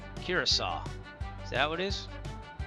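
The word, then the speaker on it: Curaçao: Curasaw. Curasaw.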